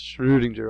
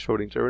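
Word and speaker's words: Schrödinger: loss over the oh so you pronounced it was sort of a guttural tones of the vowel so it's Schroedinger although we can just say he's Schroedinger and here he is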